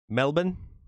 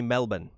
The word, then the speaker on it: Melbourne: We don't pronounce our R's, the way you do either. Yeah, you've got that weird ah. Melbourne. You say Melbourne. While over here we say Melbourne.